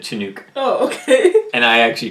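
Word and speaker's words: Chinook: today it's a weather I believe it's pronounced shinook shinook is that what I said you said chanuk oh okay and I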